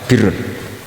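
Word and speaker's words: بِرّ: Tapi untuk masdarnya untuk kebaikan bacanya apa? Birun. Nanti kamu protes. Oh barun itu daratan Gus. Kalau birun itu kebaikan.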